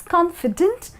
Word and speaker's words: confident: Remember and listen to the pronunciation, It's confident and confidant and the spelling to one with an "E" and the other one with an "A".